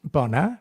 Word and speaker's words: bona: Um, Bona is the next one.